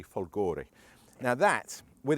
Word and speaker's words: Folgore: called the Gali folgore I hope any Italians watching I've pronounced that properly I I just said some swear word because of the way I pronounce it but I look at it and it looks like to me folgori now that with its